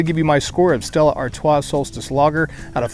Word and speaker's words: Stella Artois: up this round is stella artos solstice lager or stella artois if you want to pronounce it correctly 4.5 alcohol this is